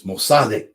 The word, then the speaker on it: Mossadegh: I have an Iranian friend that chides me for my pronunciation. It's Mossadegh. Mossadegh. Okay, fine. Mohammad Mossadegh. I've always pronounced it Mossadegh. You do what you want with that.